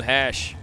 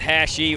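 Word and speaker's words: Hache: Steve Butler and Dylan Hash. It's spelled H-A-C-H-E. I'm assuming it's hash. It's not hashy or hashish, so it's hash.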